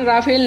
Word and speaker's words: Rafale: इसका नाम राफेल नहीं रफाल है, जिसका फ्रेंच में मतलब होता है गस्ट ऑफ वाइंड, यानी आंधी का झोंका। तो आज ही इसका सही नाम रफाल ही बोलना है, ना कि राफेल।